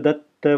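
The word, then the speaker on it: दत्त: Here we have a double ta, and that is, there's a Sanskrit example.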